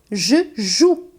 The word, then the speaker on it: joue: Je joue e não je joue. Embora tenha esse E no final, aí você percebe nesse verbo o quanto ele é mudo, né?